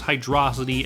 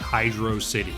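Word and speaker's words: Hydrocity: wrong how dare you everyone who played Sonic 3 knows the proper pronunciation is hydrosity and not Hydro City you seem like a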